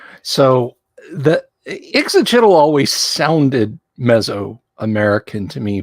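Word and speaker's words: Ixitxachitl: I used to read words as glyphs instead of phonetically. Okay. And so Ixit because I skipped a syllable.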